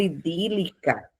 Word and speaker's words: idílica: A palavra idílica é proparoxítona, porque o som forte, né, a sílaba tônica está aqui, na antepenúltima, não é?